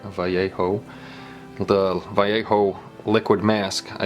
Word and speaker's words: Vallejo: us Americans would say because we don't pronounce Vallejo right vjo the vjo liquid mask